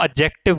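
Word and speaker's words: adjective: में भी याद रखना कि अगर डी के बाद में जे आ रहा है ठीक है तो इस जे की वजह से ये जो डी है ये म्यूट हो जाता है म्यूट यानी कि साइलेंट हो जाता है तो इसको एडजेक्टिव ना बोलकर इसको एडजेक्टिव कहा जाता है एडजेक्टिव ठीक है कभी-कभी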